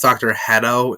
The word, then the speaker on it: Hedo: to voice dr hito i know he's pronounced dr hedo in the dub but i prefer hito uh they have jason